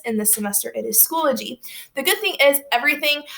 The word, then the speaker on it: Schoology: now and you'll see it kind of looks like it's pronounced schoology but it's actually schoology because if it was schoology there would be two l's and not one okay a little etymology